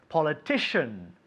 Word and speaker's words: politician: Okay, the first word is politician. Politician. Politician. Okay, how do you say politician? Politico. Politico, very good. And in English? Politician. Very good. Politician. Shh, shh, shh. Titian. Politician. One more time. Politician. Shin.